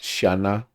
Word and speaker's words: Siana: One thing with this is it's always pronounced Shana.